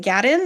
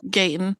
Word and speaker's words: Gaten: Is it Gatton? Is that how you say it? Gatton Matarazzo? Gaten.